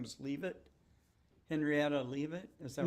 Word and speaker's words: Leavitt: And one of her peers was, am I pronouncing it correct? Her last name was Leavitt, Henrietta Leavitt.